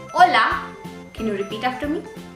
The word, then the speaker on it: hola: in Spanish language okay so when you say hola can you repeat after me hola the response